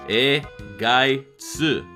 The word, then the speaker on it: Ehrgeiz: make it out but it sounds similar to how it is phonetically spelled in Japanese a guy su but in understanding that